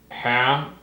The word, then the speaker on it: ham: but it's not ham, it's not ham, it's ham. So when you're taking the corners of your lips and you're going ham, you're making a smiley face, ham, you're doing it right.